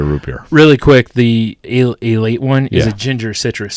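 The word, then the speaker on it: Ale-8-One: It is pronounced a late one.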